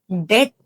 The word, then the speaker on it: debt: But actual pronunciation alli, in all these words, we are not supposed to pronounce B.